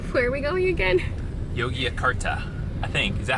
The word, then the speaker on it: Yogyakarta: told him the city yet because I can't pronounce it. So where are we going again? Yogyakarta, I think. Is that how you say it? How do you say it? Yeah. Yogyakarta.